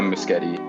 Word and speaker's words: Muschietti: But yeah, Flash, whatever they're going to do, I just hope that the Muschettis, is that how you pronounce their name? Yeah, Muschietti.